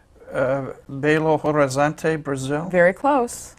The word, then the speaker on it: Belo Horizonte: Well, she's from, I hope I pronounce it right, Belo Horizonte, Brazil? Very close. I think they say Belo Horizonte.